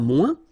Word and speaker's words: moins: Okay, so le moins, remember when we combine this O-E-N together, we get the sound ouin, ouin, ouin, okay, and we don't pronounce this final S.